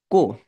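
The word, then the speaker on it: こ: এইটাকে এইভাবে লেখে সবাই কো দেন আমরা যখন মুখ হা করি কো আপনি উচ্চারণ করলে দেখবেন এই যে এরকম একটা বর্ণ তৈরি হবে মানে এরকম একটা ফেস তৈরি হবে তো এইটা হচ্ছে কো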